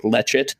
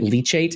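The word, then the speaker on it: leachate: the groundwater as and people also often call this like lechet I think yeah yeah I was actually wondering how you pronounce that I was saying leate in my head Le it might be leate yeah I don't know yeah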